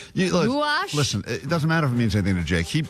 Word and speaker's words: gouache: How do you say gouache? Gouache. Gouash.